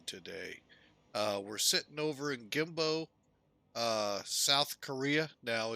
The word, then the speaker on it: Gimpo: But not too long ago, folks, Seoul, Korea, Gimpo, Gimpo, actually the Americans, us, say it Kimpo.